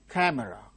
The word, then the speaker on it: camera: open now open open camera no camera it's not camera it is camera the initial syllable camera camera three syllables are there the initial syllable gains stress that is it is